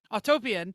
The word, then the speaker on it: Autopian: i even told me how to say it autopian uh the latest test from insurance institute of